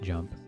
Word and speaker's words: JMP: recommend learning jump JMP it's just pronounced jump you get that on